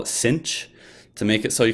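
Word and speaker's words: sinh: it in English so we just call it cinch to make it so you can pronounce the H somehow if you want to call it cinch if T is the the nickname for this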